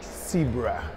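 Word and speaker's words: Xebra: se pronuncia, Zebra, pero con X. Zebra.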